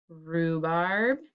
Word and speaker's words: rhubarb: is also with wr rhubarb is with our h and trophy is with